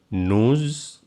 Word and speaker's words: nous: Nous entendons. Normally it is only we pronounce nous, but I pronounce here nous because next word start with vowel. So S sound like Z.